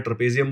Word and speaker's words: trapezium: Okay, बहुत लोग ट्रपेजियम बोलते हैं, बोलने में कोई फर्क नहीं पड़ता, आपको ट्रपेजियम बोलना है ट्रपेजियम बोल दो, ट्रपेजियम इज the actual pronunciation.